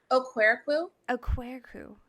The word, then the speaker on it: Okwerekwu: because I don't want to like butcher it o queru aeru really pretty everyone butchers my last name so